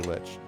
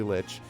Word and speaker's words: lich: also you know but then i found out a couple years ago that that is in fact actually litch there were three words